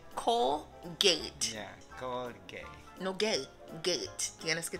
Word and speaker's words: Colgate: Es Colgate. Colgate. Yeah, Colgate.